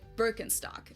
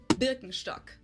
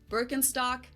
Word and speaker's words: Birkenstock: So, English speakers usually say Birkenstock. In German, we say Birkenstock. Birkenstock.